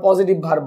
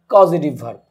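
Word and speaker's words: causative verb: বাংলা ব্যাকরণে আমাদের এই টপিকটা আছে যে অনেকে আবার পজিটিভ ভার্ব বলে, আসলে কিন্তু পজিটিভ ভার্ব না, এটা উচ্চারণটা হবে কজেটিভ ভার্ব, যেটাকে আমরা বাংলায় বলে থাকি প্রযোজক কর্তা।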